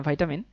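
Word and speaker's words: vitamin: সো প্রকৃতিতেও কিছু antioxidant পাওয়া যায়, যেমন হচ্ছে অ্যাসকর্বিক অ্যাসিড, ভিটামিন সি, যদি এটার উচ্চারণ ভিটামিন না ভাইটামিন।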